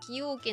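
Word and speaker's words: 崎陽軒: 崎陽軒、そうね、崎陽軒って読むんだ。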